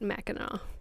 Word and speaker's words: Mackinac: It's spelled Mackinac, but in my Midwestern brain, I'm for some reason remembering it as Mackinac. But okay. So if you're native to the area, you do pronounce it Mackinac.